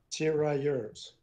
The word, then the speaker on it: tirailleurs: With the trialie, or however you say it, they skedaddle, right? Tirailleurs. Yours. Yeah. Whatever Brennan said. And in French, you wouldn't pronounce the S, but in English you do.